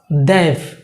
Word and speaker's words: they've: That means আপনার উপরের দাঁত নিচের ঠোঁট লেগে যাবে, দেভ।